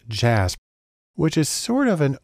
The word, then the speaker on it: JASP: open source Community has developed a program called jasb it's actually pronounced jasp which is sort of an open-source version of